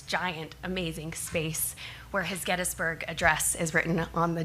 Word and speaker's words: Gettysburg: We visited Gettysburg, Gettysburg. I realized I been saying it wrong all this time. So we went to Gettsburg where 60,000 men died